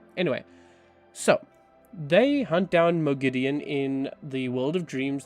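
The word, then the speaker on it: Moghedien: gideon now i think it sounds better than mogadine so i'm saying mergidian but i'm like can they not just kind of ah it's really annoying like if it's a fantasy word pick a pronunciation stick to it you know what i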